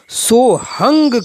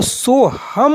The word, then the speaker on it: सोहम: चल रही है वहां सोहंग शबद का उच्चारण सोहंग किया जाता है हुआ है यो यो हनी स्पेस लिखने में तो सोहम है अगर इनपुट प्राचीन परंपरा आबादी गुरुओं के माध्यम से जो इसका उच्चारण करते हैं वह सोहंग करते हैं तथा व्याकरण के विद्वान बुद्धिजीवी वर्गों में इसका जो उच्चारण होता है वह सोहम होता है कि इस पर मैंने